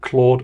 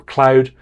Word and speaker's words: Claude: fabulous artist this year Claude or Cloud depending on your preference for pronunciation and they're in the